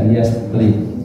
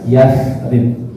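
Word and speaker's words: Yatsrib: dulu namanya adalah yasrib yasrib tulisannya yastrib tapi jangan dibaca yastrib yang benar dibacanya Apa yasrib yasrib itu artinya jelek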